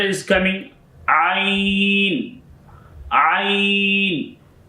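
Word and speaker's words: ع: Ain is a throatal letter. Ain. You pronounce of this letter of your throat and middle of your throats.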